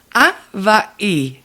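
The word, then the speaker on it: Hawaiʻi: Le petit apostrophe s'appelle un okina. Puis c'est comme un coup de glotte qui sépare les deux syllabes. Donc on va vraiment dire Hawaï.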